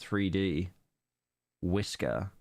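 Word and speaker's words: 3DWiSkr: is 3D workers Island but most of us prefer to use the file name pronounced 3D whisker in 3D workers Island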